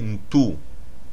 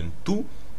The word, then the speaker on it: Ntu: La racine de Muntu est Ntu, N-T-U, qu'on peut aussi prononcer Tu.